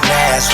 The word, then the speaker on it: Nazz: The name is Nazz, rhymes with jazz for those who can't pronounce.